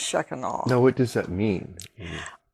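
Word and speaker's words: Shekinah: Shaka oh and yeah a lot of people pronounce it shakina pastor feni says that's not how you pronounce it so it's sheen on now what does that mean well well she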